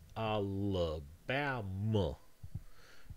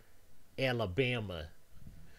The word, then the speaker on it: Alabama: So this word needs to be Alabama. You can't have, for example, a tense vowel here. You can't have an a. You cannot say this word Alabama. That would sound really weird.